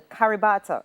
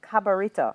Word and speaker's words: Cabarita: In which Jamaican parish can you find the Caribata River? I'm sorry, the Cabarita River.